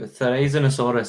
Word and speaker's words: Therizinosaurus: Therizinosaurus is, I think, the correct pronunciation.